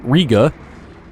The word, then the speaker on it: Riga: Riga. I believe it's pronounced Riga.